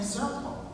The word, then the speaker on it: Zirpel: Well, purple rhymes with my last name, Zirpel.